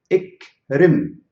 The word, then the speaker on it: اكرم: اقرأ, اقرأ, اقرأ, and اكرم, اكرم, اكرم, اكرم. I want you to pronounce it.